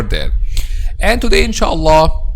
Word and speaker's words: ذ: all these letters from letter alif to letter there and today in sha allah it's letter the turn okay so our discussion today in sha allah about letter there okay so as we know we discuss all